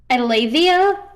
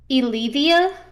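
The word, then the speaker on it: Eileithyia: the midwife goddess yeah they mentioned that there's two possible pronunciation pronunciations that we know of allevia or elevia one of the two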